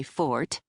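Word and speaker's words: forte: "Oh yes, you might say real estate is my fort," I said, dropping the second syllable in case he was actually a Brit who knew the proper pronunciation.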